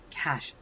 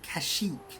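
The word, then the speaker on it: Kashyyyk: __ ] time that I pronounce it kashik but you got to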